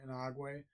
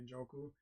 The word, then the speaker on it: Njoku: Inagwe at tight end. Njoku. Njoku. I'm sorry, Njoku.